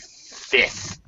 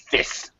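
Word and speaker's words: fifth: So we do the same thing, Xingyu, with 5th. It doesn't really sound. We don't really pronounce the F. It's just going to sound like F-I-T-H. Not really going to make that F sound. 5th, 12th.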